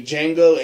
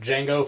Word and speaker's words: Django: And just to clarify, we're talking about Django from Django Unchained, With a not Django, The D is silent. not Django from Star Wars.